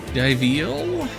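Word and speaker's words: Diveal: It's Dil. Like it. It wants to be a pun of dive and seal, but dive and seal. They don't have any overlapping vowel sounds.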